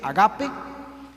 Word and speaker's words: ágape: papá y el amor ágape se pronuncia realmente agape es un amor muy